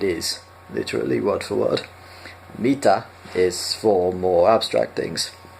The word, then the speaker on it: mitä: And also the a sound at the end of Mita, Mita.